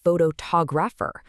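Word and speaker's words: photographer: Take photograph, right? The stress is clearly on the first syllable, but the moment you add a simple suffix like, the whole pattern completely shifts. Suddenly, it's phototographer with the stress landing hard on the second syllable.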